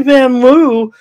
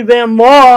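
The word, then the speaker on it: Vanloo: one by nine for the mystics uh Julie van Lou uh she played a terrific uh Olympics actually van law I should say we learned how to pronounce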